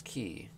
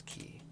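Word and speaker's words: き: This is ki. It's a consonant followed by a vowel and makes up a single syllable. You pronounce this as ki.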